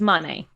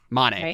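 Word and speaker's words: Mane: yeah we didn't mean it's spelled m-a-n-e whatever it is yeah it's money money yeah i'm like i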